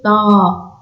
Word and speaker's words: ط: Ici, on prononce avec un son plus grave. Ta, c'est pas T, c'est Ta.